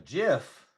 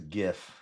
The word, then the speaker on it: GIF: It's pronounced just like the peanut butter. Yes. That's how the creator said it was pronounced for what? It's a gif.